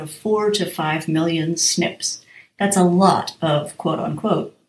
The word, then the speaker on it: SNP: in a gene snp single nucleotide polymorphisms which is pronounced snips are part of the